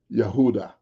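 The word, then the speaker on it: יהודה: His name was Yehoiada, or it could be pronounced Yehuda. Okay, either way, no problem. Yehuda, Yehoiada, whatever the case. But in English, you would say Judah.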